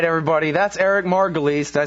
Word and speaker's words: Margolis: All right, everybody, that's Eric Margolis.